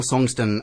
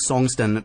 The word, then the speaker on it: Songtsen: Maybe it's not Songston, but Song Tsen.